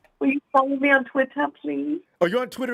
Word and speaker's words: Twitter: And notice how it says it's not Twitter, it's Twitter. Twitter.